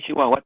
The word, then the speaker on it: Chihuahua: Y digo Chihuahua porque tengo amigos de allá y pronuncian Chihuahua, y si la gente allá dice Chihuahua, yo me imagino que es Chihuahua.